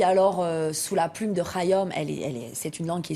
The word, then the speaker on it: Khayyam: Voilà, d'Omar, j'allais dire Khayyam, mais on dit Khayyam. Oui, Omar Khayyam, et vous pouvez dire Khayyam, vous pouvez le prononcer à la française.